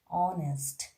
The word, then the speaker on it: honest: first which is the silent age like honor honest our here h e i are here this kind of force h is silent and another word is vector right vector